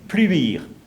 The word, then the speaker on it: Pleumel: Alors, Pleumel, donc en breton, qui se prononce pluire. Ça, c'est la prononciation locale.